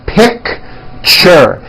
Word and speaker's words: picture: That's a tricky one. It's 2 syllables. You pronounce it picture, picture.